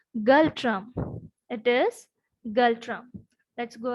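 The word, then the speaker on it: Ngultrum: Right, capital is Thimphu, currency is Galtram, N is silent, it is Galtram.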